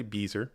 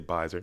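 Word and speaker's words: Byser: shocked buys a shock some say Beezer I say bizer no one says Beezer I just like pronouncing the names incorrectly from time to time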